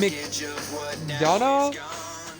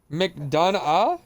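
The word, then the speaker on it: McDonagh: Did JD McDonald JD up next, ladies and gentlemen. Don't ask me to say his actual name. I can't. Mcdana Mcdana.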